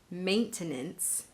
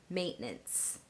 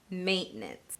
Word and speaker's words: maintenance: those 3 syllables, ʻmeɪntənəns, maintenance, you will more likely hear North American native English speakers pronounce it with just 2 syllables, maintenance, maintenance.